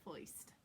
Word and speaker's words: first: But here we are not going to say first, we're going to say foist. Rhymes with moist.